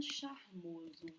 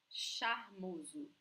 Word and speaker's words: charmoso: Charmoso. So the sound is sh, sh, just like shower, shiver, okay? Show, charmosa. And remember that S between vowels sounds like Z.